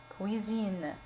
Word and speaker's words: cuisine: Cuisine. Ici, on a la lettre S. Entre deux voyelles se prononce Z. Cuisine.